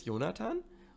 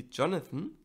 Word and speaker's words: Jonathan: My name is Jonathan, or you can pronounce it the English way, which would be Jonathan, and I have a